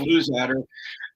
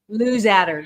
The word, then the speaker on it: Luzadder: Well, it's pronounced many different ways, and I answer to every pronunciation. Okay. But it's Luzadder within the family. So Luzadder, got it.